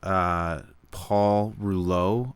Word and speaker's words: Paul Rouleau: So a judge, Paul Rouleau, I believe is how you say his name, did an investigation and